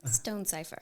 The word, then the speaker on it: Stonesifer: name because I'm going to mispronounce it people mispronounce my name no not Christ I know but um please oh Kristen Stone Cipher Stone Cipher so without further Ado Kristen Stone